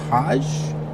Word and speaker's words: Hajj: Only Muslims are allowed in the city, with millions arriving for the annual pilgrimage, pronounced Hajj.